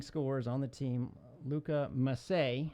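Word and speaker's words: Masset: on the team Luka must say and that is mas se T but he's French to pronounce it must say again he has two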